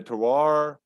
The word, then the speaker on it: terroir: So the other thing is like, hey man, like the environment, the terroir, the yeast in the air.